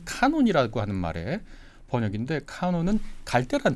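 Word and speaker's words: canon: 민 필요 없죠 그러나 카논 안에 들어가 있는 건 내 생각과 좀 달라도 함부로 표현하지 않죠 그게 이제 카논입니다 캐논이라 흔히 역 발음하고 뭐 카메라도 유명한게 캐논이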